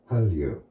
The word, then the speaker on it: Hallyu: In Korean pronunciation, Hallyu.